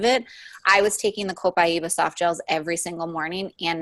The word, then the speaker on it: copaiba: be pronouncing it correctly copaiba that's dr. hill pronounces it and i always present incorrectly right well if you're from Brazil which is where the oil comes from you would say copaiba but in America we